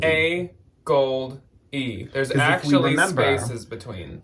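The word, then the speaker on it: AGOLDE: think is the like technically correct name to pronounce it is a gold a gold e There's an actual spaces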